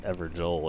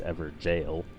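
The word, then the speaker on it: Evergaol: of the ever jels and apparently it's not pronounced everel it's ever jail so that's another thing we missed one of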